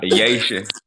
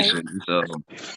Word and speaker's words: Yation: No, not Yation. It's like it's you say Haitian, but you just take the H out and put AY, so it's Okay. Yation.